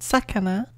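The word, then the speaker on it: 魚: Following that, we have fish, pronounced sakana, which is a little weird squiggly line with the rice field and then four little things below.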